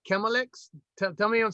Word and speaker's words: Chmielix: know how you say chemilex tell me i'm saying it right or wrong tell me how to say let them hear it again you told me yeah it's close enough man it's melix that's a good name